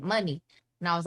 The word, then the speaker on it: Muni: um that's dope but you should pronounce it money and i was like